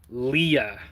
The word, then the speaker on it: Leia: Oh, can you repeat it and pronounce Leia Leah?